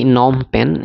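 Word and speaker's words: Phnom Penh: হইতে সম্পর্কিত তো এটা নম পেন যেটু ইংরেজি হেরিটু বেলে হয় লিখাটু পিএইচ এন ও এম পি ই এন এইচ হয় যেটু নম পেন বলে আমি উচ্চারণ করিছু আর এই নম পেন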